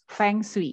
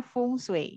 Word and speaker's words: feng shui: pelafalannya bu yang itu kalau bahasa Indonesia kita membacanya seperti yang tertulis ya fengsly gitu Tapi kalau bahasa Mandarin itu bacanya fungsi gitu artinya nanti kita bahas